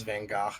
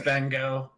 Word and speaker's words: Van Gogh: Well, to be honest with you, whenever somebody told me it was Van Gogh, I was like, don't stop being such a pretentious asshole. It's Van Gogh.